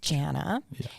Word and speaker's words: Janna: well uh okay so my first name is Jana and then it's spelled j-a-n-n-a in Romanian and then damijana which